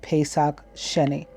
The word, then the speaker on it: Pesach Sheni: resulted in the communication of the law of Pesach Sheni so like a delayed so ver and it